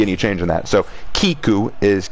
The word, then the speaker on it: Kiku: people somewhat dishonored yes it's spelled kiku keku sorry i'm not good with asian names k-i-k-u the first one is correct kiku the best way to